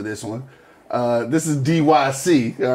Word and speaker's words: DYC: way overseas for this one uh this is dyc all right in case you was wondering that is how it's pronounced if it ain't that's how we pronounce